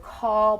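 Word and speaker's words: caul: taught me a word call Bearer right how do you spell that it's C's and Charlie you Union a apple L Larry it's sound it's pronounced like call but it's call Bower call Bearer what is that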